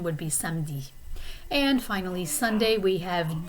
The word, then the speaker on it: samedi: Saturday is samedi. Okay, the E is kind of almost silent. Occasionally I will hear people pronounce it like samedi, but I think the main pronunciation would be samedi.